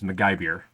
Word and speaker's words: MacGyver: I actually found out from the person that designed this dragon how to pronounce his name. It is MacGyver, and so I now